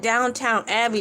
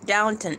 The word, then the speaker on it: Downton: I call it Downtown Abbey, but it's Downton Abbey. Downton. It sounds like the same thing, but it's spelled differently.